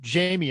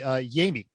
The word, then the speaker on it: Yami: we've been calling him Jamie, and I don't think he cares, but his name is actually Yami. So he actually goes with the Hispanic pronunciation of his Yeah.